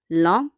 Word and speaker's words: lent: Start with long, long, long. On prononce pas le T.